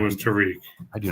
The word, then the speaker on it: Tariq: Not Tyreek, but Tariq, like the Arabian, Middle Eastern spelling or whatever.